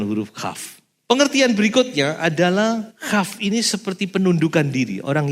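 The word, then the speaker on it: כף: Cuma bacanya bukan kaf, tapi khaf.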